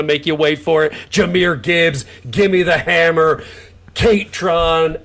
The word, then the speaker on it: Jahmyr Gibbs: for Jahmyr Gibbs, but your pronunciation, because it's Jahmyr Gibbs. Like you really got to work on that last name.